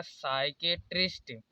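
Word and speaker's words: psychiatrist: यहाँ पर भी देखिए S से पहले P आया है तो यहाँ पर P कॉमन है, इसे पढ़ा जाएगा साइकेट्रिस्ट।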